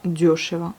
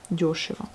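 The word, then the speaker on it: дёшево: En général, elles sont accentivées, les yo. Donc ça se prononce bien diosheva. Yo, diosheva.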